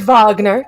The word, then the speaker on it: Wagner: Kurt Wagner so yeah awesome Kur Kurt Kurt vogner Kurt vogner have have to give it have